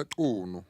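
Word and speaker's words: Qunu: you to imagine that you can go to Ikunu. Ndaba can say it correctly. Ekunu.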